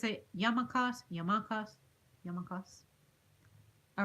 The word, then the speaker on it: yarmulkes: those hats are called oh boy it's a yarmulkes yarmulkes yarmulkes all right capitalized word the strongest syllable is that yarmulkes I must say young